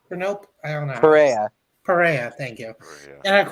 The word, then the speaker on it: Perea: Brendan Pena for Nope. Pena for Nope? I don't know. Perea, thank you.